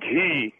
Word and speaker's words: ghee: First of all, I'd like to say that the pronunciation of that word is not G, it's ghee. Ah! And it definitely does come down. I told you, Roger. I told you. I told you it was not G. It's ghee. You get so bullheaded, you don't want to listen to the voice of reason. I'm not sure what the listener what the listener's talking about. Ghee? It's ghee. G-H-E-E is pronounced ghee.